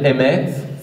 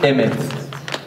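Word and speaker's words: אמת: Le Nun est trop difficile à prononcer, Nun Nofelet. Qu'est-ce qui reste? Emet. Emet, ça veut dire vérité au féminin, et Amen, ça veut dire vérité au masculin.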